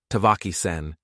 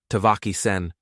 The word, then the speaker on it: Tavaki-sen: It wasn't flat, like he'd said it. There was a rhythm to it, a rise and fall, a music. Tavaki-sen. The last syllable was sharp, like a stone striking flint.